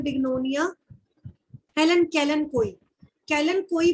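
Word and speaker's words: Kalanchoe: Rare example है बिग्नोनिया, Helen कैलन कोई, कैलन कोई बोलते हैं, कैलन चोई नहीं है, ये एक्चुअल साइलेंट है।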